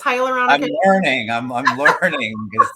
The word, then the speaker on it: hyaluronic: all of this stuff no you said it right it's hyaluronic good morning I'm learning